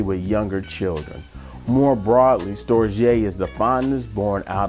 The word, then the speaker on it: storge: the third form of love which is called storge it is pronounced or Jai or it's more of a familiar type love